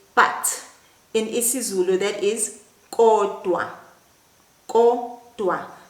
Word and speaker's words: kodwa: In isiZulu that is kodwa. Kodwa. Now remember how to pronounce the K. The sound comes from right at the back of your mouth.